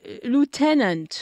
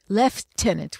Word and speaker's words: lieutenant: syllable so and it's Lieutenant Lieutenant Lieutenant well it's a French word you spell it lien and it's pronounced lieutenant and you say Lieutenant yes and in England left tenant with an F that's really weird yeah